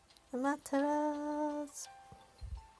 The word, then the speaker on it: Amaterasu: Amaterasu. I pronounced the U a little bit, so don't mind me.